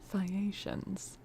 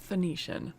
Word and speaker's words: Phaeacians: the land of the Phaeacians. Phaeacians. I should know how to say this. I should know. Phaeacians. Phaeacians. No, not Phoenician. Not Phoenician. Phaeacian.